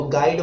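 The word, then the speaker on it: guide: जी यू आई डी, इसमें यू जो है आपका ये जो है साइलेंट हो जाता है तो गाइड बन गया।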